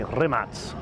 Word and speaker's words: Rimac: speak the language it's rimack I would say in English yeah but most people would say remats okay so that's more kind of European pronunciation from what I understand